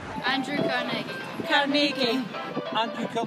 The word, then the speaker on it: Carnegie: As for the differing pronunciations of his last name, well, we'll let the people of his hometown in Scotland have the final word. Cargi. Andrew Cargi. Cargi.